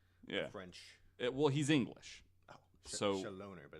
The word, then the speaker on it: Chaloner: No, it's Chaloner. Chaloner. Shatner. Chaloner. Yeah, that's what I was going to say. Yeah. It's like French. Well, he's English. Oh, Chaloner, but it's...